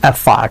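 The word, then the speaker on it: effort: অ্যাফার্ট অ্যাফার্ট মানে কি ইফোর্ট না এখানে উচ্চারণটা খেয়াল করবেন এফার্ট উচ্চারণটা এফর্ট মানে প্রচেষ্টা চেষ্টা প্রচেষ্টা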